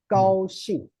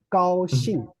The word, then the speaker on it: 高兴: 高兴. Okay. Aaron, please read after me. 高兴. 高兴 Right. Very good. Let's do it again. 高兴.